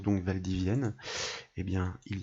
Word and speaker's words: Valdivienne: de doublon voyez avec cette ville qui se prononce donc Valdivienne et bien il y a donc différents codes